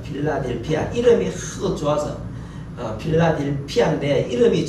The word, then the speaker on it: 필라델피아: 빌라델비아. 빌라델비아. 예. 정확하게 발음하면은 필라델피아입니다. 필라델피아.